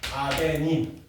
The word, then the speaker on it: 아데닌: 그 A를 뭐라 그러냐면 아데닌이라고 읽습니다. 전 세계 사람들이 이렇게 읽어요. 아데닌 아데닌 A는 아데닌 아데닌 자꾸 파고하세요.